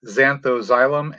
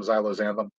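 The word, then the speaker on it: Zanthoxylum: They're supposed to be xanthoxylum, and I pronounced them xylozanthum over and over and over and over again.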